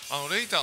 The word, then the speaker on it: L8R: 、僕たち L8R と書いてレイターというバンドをずっとやっております。